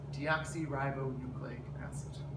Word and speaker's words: deoxyribonucleic acid: goes with t and um the way you pronounce it is deoxyribonucleic acid all right thank you for watching